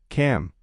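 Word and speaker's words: calm: 10 L. Cal. The L is silent. It's pronounced cam.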